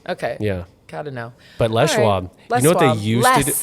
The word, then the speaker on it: Les Schwab: you gotta say no I think you say it I think if you're if you're firm around here you can say Les Schwab oh but just know